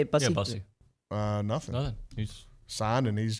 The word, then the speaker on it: Bussey: Yeah, Bussey.